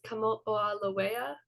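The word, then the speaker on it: Kamoʻoalewa: They labeled it 469219, but the more common name that astronomers use to refer to it is Kamo'olawea, I believe is the correct way to pronounce it, which is a Hawaiian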